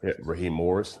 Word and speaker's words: Raheem Morris: And so, Raheem Morris.